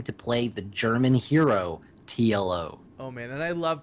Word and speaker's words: TLO: play the German hero TLO oh man and I love tiolo's name because you get to say it like t l o I know any any